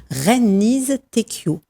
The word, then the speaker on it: Reine-Lise Tecchio: Alors ce soir, nous avons la joie d'accueillir une nouvelle autrice parmi nous, Reine-Lise Tecchio. C'est ça? On a bien prononcé? Oui, vous avez bien prononcé.